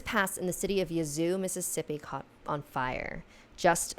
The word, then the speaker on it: Yazoo: And also, am I saying Yazoo right? Yazoo! It's spelled like Yahoo, but with a Z instead of an H.